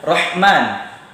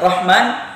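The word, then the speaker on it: الرحمن: nggak ada perbedaan ha adapun yang sebenarnya itu awalnya ha besar baru kita masukkan setelah itu ha kecil rohman ya rohim Jadi mungkin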